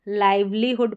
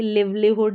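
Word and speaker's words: livelihood: सिस्टरहुड parenthood और यह है लाइवलीहुड। इसको लाइवलीहुड पढ़ेंगे। लिव्लीहुड या इस तरीके से नहीं पढ़ेंगे।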